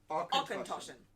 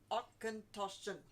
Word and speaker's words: Auchentoshan: I think it's actually pronounced how it looks, really.